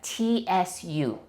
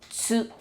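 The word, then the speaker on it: つ: I know it's a tu, but we pronounce it like tsu, tsu.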